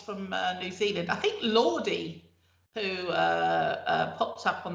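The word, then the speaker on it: Lorde: lord oh is it lord i thought it was lordy because it spelt with an e yeah but i don't think you say it i don't remember everyone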